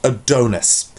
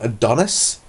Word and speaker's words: Adonis: about a god called adonus and I can only only assume that he's actually mispronouncing Adonis from Greek mythology because no search I